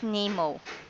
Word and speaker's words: N3MO: DAV and the California Maritime University are developing an autonomous boat called N3MO, or rather pronounced NEMO.